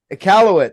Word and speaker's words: Iqaluit: His name's Polar Man, and he's from Iqaluit. I don't know how to say that. Celeste. Iqaluit. That's how you say it.